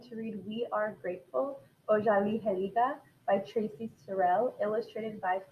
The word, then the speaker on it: Otsaliheliga: This is how you pronounce it, Otsaliheliga.